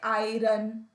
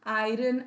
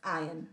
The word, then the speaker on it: iron: arm please never say i run i've heard lots of students pronounce this word as i run iron r is silent it's iron right so what he